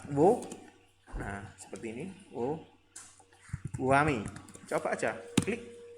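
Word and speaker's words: whoami: Wo, wami. Coba aja, klik. Nah, ya WMI sebenarnya ya. WMI, tapi wami. WMI. WMI ya, WMI. Wami ya biasa bacanya Wami.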